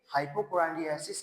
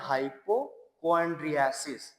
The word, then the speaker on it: hypochondriasis: अब नेक्स्ट हम लोग देखेंगे हाइपोकोराइसिस क्या होता है, यानी कि रोग भ्रम। थोड़ा सा अगर प्रोनाउंसिएशन में दिक्कत हो रही हो तो इसको बोलते हैं हाइपोक्वांड्रियासिस, यानी कि रोग भ्रम।